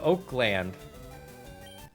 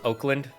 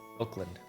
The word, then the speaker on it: Oakland: we're gonna go to oakland when it's pronounced oakland the a is silent it's spelled oakland but the a is silent oakland yeah uh 22 percent